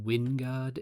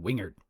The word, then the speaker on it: Wingard: It occurs to me that the name of the company that produced the mirror is almost certainly pronounced Wingard in its country of origin, but for now at least I will stubbornly stick with my U.S. Southern Wingard.